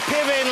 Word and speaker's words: Piven: Is that a long line of Pivens, or because I've never met a Piven before? You know, it's actually a Ukrainian name, and it's pronounced Piven, I believe, and it means rooster or singing cock.